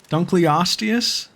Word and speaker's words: Dunkleosteus: Teach me how to pronounce this one again. That's pretty funny. Dunkleosteus?